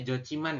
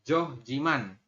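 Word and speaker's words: 좋지만: Berarti kita bacanya adalah jo man. Seperti ini. Jadi kita bacanya jo ciman ya. Bukan joh jiman.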